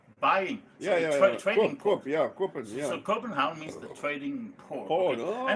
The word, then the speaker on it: Copenhagen: Copenhagen. Yeah. Oh, that's. Havn means support, and Copen means buying. So trading port. So Copenhagen means the trading port.